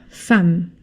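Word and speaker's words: femme: Fam. I know it's an e, but this is an exception.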